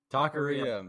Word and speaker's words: taqueria: Taqueria. My goodness. I told Ridge 5 times before we started how to pronounce more it.